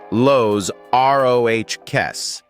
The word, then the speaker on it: Los Roques: Number two carries us to a scattering of jewels off the Venezuelan coast, an archipelago pronounced Los Roques.